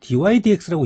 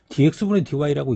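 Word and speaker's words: dy/dx: dy dx라고 읽습니다. 어떤 친구들은 얘를 dx분의 dy라고 읽더라고. 그렇게 읽지 않습니다.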